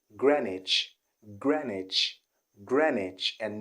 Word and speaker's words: Greenwich: a friend who had a challenge trying to pronounce this particular city he always called it green witch green witch like a green witch but i